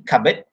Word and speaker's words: cupboard: Even though you pronounce it with silent P, cupboard, but still you have to spell it with C-U-P-B-O-A-R-D.